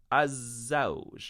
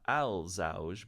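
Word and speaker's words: الزوج: Men hadha, this gentleman with the green circle around him, he's az-zawj, not al-zawj, but az-zawj, the husband.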